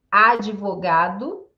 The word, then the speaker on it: advogado: Como é que fica a pronúncia, então, de mudo? Advogado, admirar e adversário. Certo? Advogado, admirar e adversário. Então, som de di.